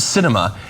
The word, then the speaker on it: Sinema: the Biden Administration uh the Arizona senator's name is pronounced Cinema and it is apt